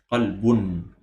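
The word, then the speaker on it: قَلْبٌ: So it's as if there is a noon at the end. So again, it's qalbun.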